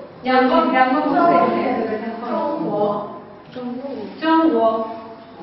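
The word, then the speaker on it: 中国: ¿Lo pronunciáis, güey? ¿Cómo? Chong. Chong, con un T con un S. Chong, guo, ¿no?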